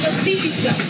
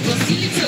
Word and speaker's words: Василица: група от село горна василица предполагам ударението правилно василица не василица групата е сборна от